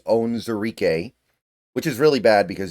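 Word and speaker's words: Onwuzurike: always mess this up I always want to go on wuar but it's on zarque which is really bad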